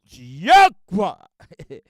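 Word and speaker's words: YHWH: which they call the texture grammat, which we pronounce Yaka.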